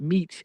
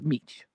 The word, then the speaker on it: Mech: Delavid Mech right pronounced Meech actually I call it Mech but it's Meech who helped popularized the